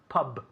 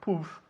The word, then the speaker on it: pub: went to the pub Pub Pub we say Pub not poof puberty Pub so yesterday